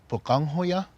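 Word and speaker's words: Pöqangwhoya: in our culture, and the older brother's name is pronounced Bukonghoya, and the younger brother Balongahoya.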